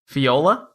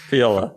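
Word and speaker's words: Fjola: to Fiola light Bane Fiola but that's a j right yeah I know but sometimes how silent J work okay fola Fiola yeah Fiola light Bane is a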